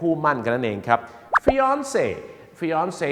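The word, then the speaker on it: fiancé: คือ คู่ มั่น หญิง คำ นี้ มา จาก ภาษา ฝรั่งเศส เนี่ย นะ ครับ ออก เสียง ฟอน คล้าย ๆ กับ นัก ร้อง ออนซ รู้ จัก ม ครับ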